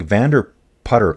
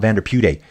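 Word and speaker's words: Vanderputte: Allan saying, "Germanic names ending with an E are generally pronounced, not E." So, like Vanderput. Okay. So, like Vander putter. Oh, that's right. Dude, I heard someone say that yesterday. It's putter. It's putter, not Vanderput.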